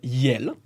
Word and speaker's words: iel: Okay, so the French language created a pronoun called yel. Yel. Okay. Okay. IEL. E-L. I-E-L.